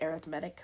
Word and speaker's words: arithmetic: know it's SP spelled like arithmetic but it's pronounced arithmetic when we're talking about sequences and series and